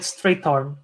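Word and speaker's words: Strathairn: David Strathern.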